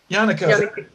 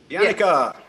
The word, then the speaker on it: Yannicka: Yannicka. Yannicka. With Rhymes with Hanukkah.